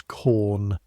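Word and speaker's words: Caen: Normandy from quaries near a town the men pronounce corn.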